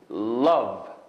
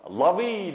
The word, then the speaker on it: love: Love. Lovey demaymiz-ku endi. Oxirgi i ni telaffuz qilmaymiz.